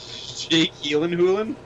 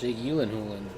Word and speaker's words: Jake Gyllenhaal: Jake Gyllenhaal. That's how you actually pronounce his name, apparently. That's I remember that in like an interview he had, where he's like, "It's actually pronounced Jake Gyllenhaal."